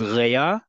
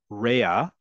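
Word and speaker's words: רֵעַ: Another word for a friend in Hebrew, which is a really nice term, is rea or rea. The pronunciation is important here, folks, because if you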